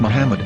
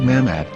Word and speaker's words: מחמד: According to Ben Yehuda's Hebrew English Dictionary, it is correctly pronounced as Muhammad, not Mamad.